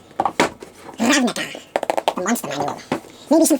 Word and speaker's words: Ravnica: That's how you say it too. Ravnica.